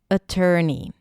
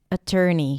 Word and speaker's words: attorney: Uh, uh, then tur. Tur as in turkey. And then knee. Attorney. Attorney.